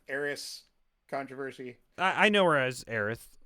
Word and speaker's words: Aerith: known her um like I know Eris is the original pronunciation of it but like I grew up I thought heiress was the original pronunciation but in Kingdom Hearts they call her aerith and that's how I